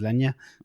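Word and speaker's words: Legna: Pulpera, I thought, but then I thought Legner was Legner for the last 2 years, and it turns out it was Lenya.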